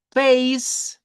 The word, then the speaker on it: face: Palabra en inglés que termina con E, la E no suena. Entonces, la E aquí no existe. Al pronunciarla, sí al escribirla, pero no al pronunciar. Por eso suena cake con la K. Por eso esta suena face con la S al final.